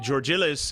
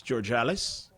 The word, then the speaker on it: Georgalis: If we pronounced it Georgilis, it's Georgalis.